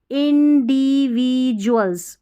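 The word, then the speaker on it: individual: फिर यहाँ पर बढ़ेंगे आगे तो एवरी इंडिविजुअल्स मतलब हर व्यक्ति, एवरी इंडिविजुअल जो व्यक्तिगत जो भी व्यक्ति है ना वो, INDIV और DUAL है ना, इसको डुअल नहीं जुअल पढ़ना है, इंडिविजुअल फेसेस यानी कि हर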